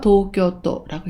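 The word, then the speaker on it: 東京都: 수도를 슈도라고 읽습니다. 여기 동경도가 보이는데요. 도쿄도라고 읽습니다.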